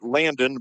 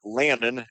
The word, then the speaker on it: Lannon: First name not Landon, but Lannon. L A N O N. Rhymes with Dannon or Shannon.